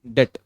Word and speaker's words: debt: सबसे पहले डेट equity ratio, डेट equity, डेट D silent होता है, डेट DEBT, डेट equity ratio.